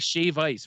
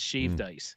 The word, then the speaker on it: shave ice: get out of here it's like Shave Ice versus shaved ice you know it's it's the correct term is shave ice so I I feel